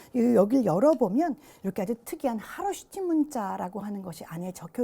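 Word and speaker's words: 카로슈티: 여기를 열어보면 이렇게 아주 특이한 하로시티 문자라고 하는 것이 안에 적혀 있습니다. H 앞에 K가 묵음이기 때문에 이제 하로시티라고 우리가 발음을 하는데요.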